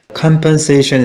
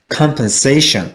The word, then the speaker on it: compensation: 자, 그래서 compensation compensation이 아니라 compensation 이렇게 읽어야 되는 것입니다.